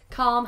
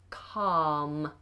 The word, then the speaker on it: calm: share button um Fernando calm is pronounced with a silent L yes yes calm has a silent L we just have a long vowel ah calm calm um is asking